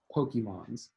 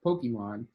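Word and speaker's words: Pokémon: I was a kid Pokemon's she didn't realize that the plural of Pokemon was Pokemon hard concept to grasp all right boom now let's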